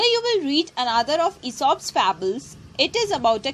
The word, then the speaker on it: Aesop: Okay, A Bell for the Cat is an Aesop fable. A-E-S-O-P. This is pronounced as Aesop.